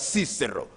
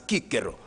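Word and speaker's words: Cicero: philosopher Marcus tulus Kiko sometimes in English pronounced as cisero but properly in Latin as Kiko and Kiko said that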